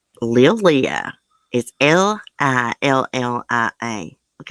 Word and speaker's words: Lillia: for him look at her i think you pronounce her name lillia is l-i-l-l-i-a look how beautiful her eyes are